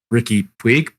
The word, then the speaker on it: Puig: And then before that, they brought in obviously Ricky Puig.